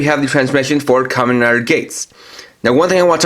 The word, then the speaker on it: Geiz: the translation for commoner gates now one thing I watch out for a little bit is the name as you see it spelled GE I Z but pronounced as gates and while it does